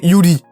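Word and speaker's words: 百合: Pour en revenir au visuel, le lys blanc que nous voyons dans ce refrain se prononce en japonais Yuri.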